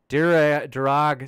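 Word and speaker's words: Darragh: And then Darag says it's Irish, pronounced Dara.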